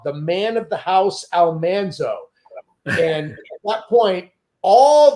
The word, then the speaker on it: Almanzo: So we said Almanzo on the program, but the name should have been pronounced Almanzo.